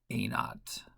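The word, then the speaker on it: a₀: I say a naught that's a with a zero as a subscript that's pronounced a naught so that's the beginning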